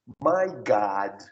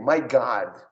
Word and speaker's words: my God: Então, olha só, eles pronunciam assim, olha, my God. Repete comigo, my God. My God. Tá vendo? Eu abri o O, mas professor, tá escrito my God.